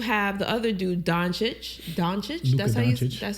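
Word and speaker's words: Dončić: Doncic.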